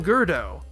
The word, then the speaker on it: Gurdo: So I ended up splitting the difference and calling him Gurdo. To me, it sounds a bit closer and the final altered kana from the original yogurt at least gives me some semblance of justification for keeping the extraneous vowel sound.